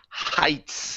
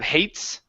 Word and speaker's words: heights: This word right here is pronounced heights instead of hates.